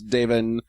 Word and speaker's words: Davin: His name is Davin. Davin. Is it? Davin. I don't know anybody named It's Davin. spelled D-A-V-I-N. Yeah, Davin. Davin. Oh, okay. I guess if you're going by the Gaelic pronunciation.